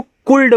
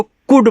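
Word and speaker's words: could: इसको कुल्ड मत पढ़िएगा भैया। इसको कुड पढ़ते हैं। यहां पे एल का उच्चारण नहीं होता है।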